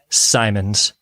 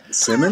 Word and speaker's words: Simons: Simons Jr. Welcome back. How does he pronounce my name? Simmons? He says Simmons.